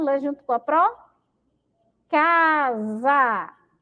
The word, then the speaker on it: casa: Casa, ó, e quando a gente pronuncia, tem um som de Z, tá bom?